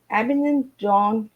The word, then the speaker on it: Abingdon: So before we get started, Duncan, I want to get out where you're from, because I couldn't pronounce it right. So I live in Abingdon, which is Abingdon.